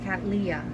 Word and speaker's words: cattleya: me busy excuse me cat leah right i've been pronouncing it wrong all along i will try to